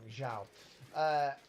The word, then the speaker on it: Zhao: Sorry, I'm pronouncing his name wrong. Zhao.